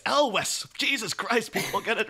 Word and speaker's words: Elwes: And maybe you bump into him in the street and he'll be like, oh, Cary Ewells. He'll be like, it's Elwes.